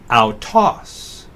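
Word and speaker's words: αὐτός: Alpha upsilon is a fourth diphthong. It's pronounced like the AU in sauerkraut, so autos.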